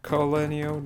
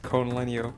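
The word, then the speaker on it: col legno: if anything seems unclear colonio not conalenio please forgive my mispronunciation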